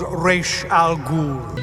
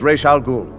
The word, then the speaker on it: Ra's al Ghul: I am he who is called Raysh al Ghul. I am Razz al Ghul. This is Raysh al Ghul. My name is Razz al Ghul.